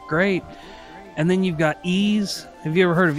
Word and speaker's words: Ys: of them look great and then you've got ease have you ever heard of ease yeah yep yeah I didn't know that's how you pronounced it I always pronounced it wise but evidently yeah good good good games played